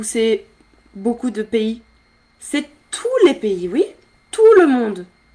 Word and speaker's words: tous les: Attention, j'entends pas le S quand je dis tous les.